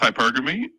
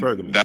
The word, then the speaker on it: hypergamy: It's using pronounced hypergamy, and hypergamy, yes.